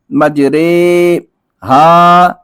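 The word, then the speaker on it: مجريها: امالہ کی را کو اردو کے لفظ قطرے کی را کی طرح پڑھیں، یعنی ری نہیں بلکہ رے پڑھیں.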